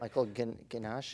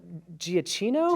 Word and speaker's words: Giacchino: Michael Ganache? Michael Giacchino. Giacchino? Okay. Did better than It's me. an Italian name.